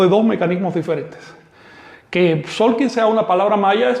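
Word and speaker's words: Tzolk'in: clase pasada hablabas del solking. ¿Podrías compartirnos más info sobre esto?" Bien, debo eh debo escribir la palabra. Miren, Solkin se escribe en la actualidad con Z, pero se pronuncia con S.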